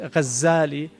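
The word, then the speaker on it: Al-Ghazzali: Um some say his name is actually Al-Ghazali with a shadda uh from ghazzal, which is a carter of wool, which um is what his father did.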